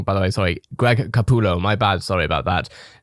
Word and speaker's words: Capullo: crusader who makes nightmares shutter designed by greg kapalu sorry if i've got your name wrong by the way sorry greg capullo my bad sorry about that the drop date